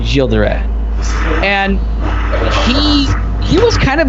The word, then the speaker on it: Gilles de Rais: Like I remember in the horrible N64 version, they had Gilles de Rais, and most people know him as Giles de Rais, but he's I pronounce him Gilles de Rais, and he was kind of a dick.